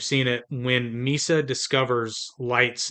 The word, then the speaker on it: Light: she first sees him, she says his name's because his first name is using the character for and but he pronounces it light.